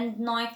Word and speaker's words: knife: we don't think knowing tonight because the K is silent so no a knife that were so many other side silent letters